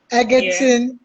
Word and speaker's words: Egerton: i'm sure you know eggerton is there is the one that is tricky so don't say it as an i say it as an e okay okay so he's